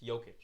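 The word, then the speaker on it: Jokić: The door for Jokic because those are the top 2 guys. It's Jokic.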